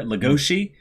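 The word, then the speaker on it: Legosi: you have ourselves a couple pronunciation things there Lugosi the pronunciation for for the wolf all right and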